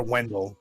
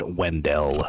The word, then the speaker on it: Wendell: BCSO supervisor meeting, and it was Wendell or Wendell, which is pronounced incorrectly. It's pronounced Wendell.